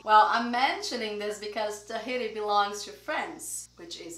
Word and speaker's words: Tahiti: Take a look at the way we write this, but we say Tahiti, not Tahiti, which is in Portuguese, right? But in English is Tahiti. Well, I'm mentioning this because Tahiti belongs to France, which is in Europe.